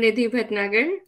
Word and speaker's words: Nidhi Bhatnagar: I'm Nidhi Bhatnagar.